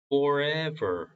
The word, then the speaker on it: forever: will live live forever. forever이 아닙니다. forever가 아니에요. forever가 아니라 forever. forever. 이빨과 아랫입술 사이로 나오는 바람 소리.